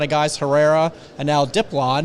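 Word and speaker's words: Diplán: guys Herrera and now dip LAN who we had to learn how to pronounce his name emphasis on the first syllable yeah because they're just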